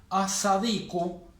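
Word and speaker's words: الصديق: Estoy poniendo el artículo sin pronunciar la L. Sadiqun significaría un amigo. As-sadiqu, el amigo.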